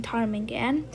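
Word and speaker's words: ptarmigan: kind of hard to say but the p is silent in tarmigan and the word the bird can easily camouflage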